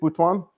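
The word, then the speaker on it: Butuan: Bhwan.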